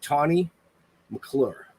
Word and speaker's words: Tane McClure: But let's welcome Miss Tane McClure. Did I say it right? You did say it right, Tane. Yes.